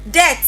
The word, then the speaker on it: debt: The b is silent.